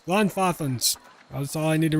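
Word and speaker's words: Glanfathan: Okay, I was close to pronouncing it right. It's Glonfothen. Glonfothen and Glonfoth.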